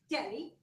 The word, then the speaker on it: Delhi: No, Polly, that H is silent. It is pronounced Delhi.